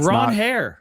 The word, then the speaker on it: Ranger: By the way, my name is is Ron Hair, but I don't mind Ranger."